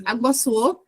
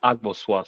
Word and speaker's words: Agboso: Agboso, be the last person before we call up Abdallah to present. Go ahead, Agboso. For point of correction, it's pronounced Agboswa, sorry.